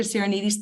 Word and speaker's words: Sirinides: I have a Greek name, which can be tricky to pronounce, especially with so many vowels. So if, like me, you don't speak the language, it may help to know that it rhymes with Archimedes.